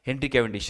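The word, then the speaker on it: Henry Cavendish: हेनरी कैवेंडिश, इसका pronunciation क्या है? हेनरी कैवेंडिश।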